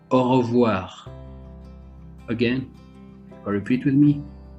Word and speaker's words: au revoir: if you want to say goodbye we say au revoir again repeat with me au revoir for goodbye and in arabic if you